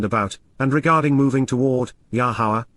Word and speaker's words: Yahowah: and regarding moving toward, Yahowah, Yahowah, the proper pronunciation of Yahowah.